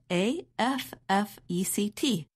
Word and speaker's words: effect: When we are speaking quickly, the first vowel of the noun, effect, is reduced to the quick sound, affect, which is the same sound as the verb.